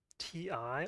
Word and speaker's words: Ti: oh God and uh is it pronounced TI or Tai T what I would say ti ti yeah okay glad I had